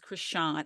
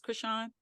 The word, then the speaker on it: Krishan: And it is Krishan. Am I saying her name correctly, Candice? Krishan? Yeah.